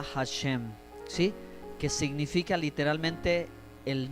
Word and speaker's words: Hashem: se dice el señor pero en hebreo se pronuncia hashém si que significa literalmente el nombre ok el